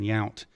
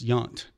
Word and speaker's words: Yount: wife, and she said, you better ask him how to say his last name, because it looked like, because I was saying Yount. Yeah. And she said, I work with somebody, and it said it's Yount. So, but you work at